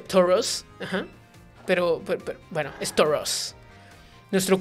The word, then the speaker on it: Tauros: que sí había visto esa roquita hay un tauros rojo rojo que estoy hablando negro y como buenos entrenadores que son combate con sus Pokémon ella tiene un se pronuncia toros Pero pero bueno storos nuestro currículo abarca diversas